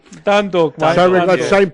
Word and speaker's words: Dundalk: Petersburg taking on Donald Duck. Donald Duck. Quack, quack, quack. That's in Group D. Dundalk, mate.